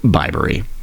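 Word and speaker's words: Bibury: I was thinking about bibs, so that's where that came from, but it's pronounced Bibery.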